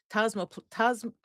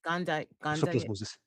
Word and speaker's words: toxoplasmosis: I was thinking, well, tosmoplasma, tosmoplasma, toxic plasma. How do you pronounce it? Toxoplasmosis. Toxoplasmosis. It's like that.